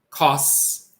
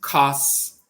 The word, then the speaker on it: kos: And the C is the sa, like C is in cellular in English. So that is ka, a, and sa, kos. So this is pronounced kos.